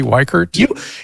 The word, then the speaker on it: Weichert: Am I pronouncing your last name correctly? Weichert?